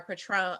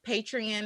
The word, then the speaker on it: Patreon: you can visit our patron um patreon that's how you say it i always say patron because i was like what's going on um y'all can visit